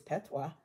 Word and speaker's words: patois: interesting to me is you tell me it's pet but it's not spelled like that exactly how is it spelled p a t o i s which I don't know what the hell that is s is kind of a French thing exactly I don't know